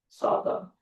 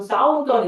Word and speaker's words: southern: 어떻게 읽어야 돼? southern. 네, 이상한 발음 좀 하지 마. 무슨 싸우던 이딴 것 좀 하지 말라고.